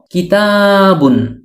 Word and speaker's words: كِتَابٌ: শব্দার্থ শিখবো ইনশাআল্লাহ আর সেই আরবি শব্দটি হল কিতাবুন কিতাবুন একটি বই কিতাবুন একটি বই কিতাবুন একটি